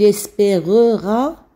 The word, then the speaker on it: espérera: muette alors que lille espérera c'est à dire qu'on prononce le e donc le e d'avant